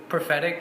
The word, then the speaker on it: Profetic: came from okay so prophetic it's phonetically just like the English translation forward you know we just decided to put in half in front of it I mean grammatically it's incorrect it's everything sure about it but it you know you pronounce it exactly how you would say in the English version and then kind of